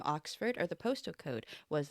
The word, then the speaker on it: OX4: we're checking out a song called Ox 4 pronounced Ox for I've been told by the patreon member who